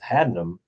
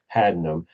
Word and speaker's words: Haddenham: And I'm very happy today to have Andrea Rollison with Haddenham here, and I actually said it right.